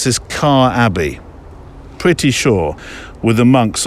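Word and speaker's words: Quarr Abbey: decided to spend at, now I think you pronounce this Car Abbey, pretty sure, with the monks on the Isle of Wight.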